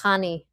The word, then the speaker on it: Hani: It's Hani. Similar to Honey. honey.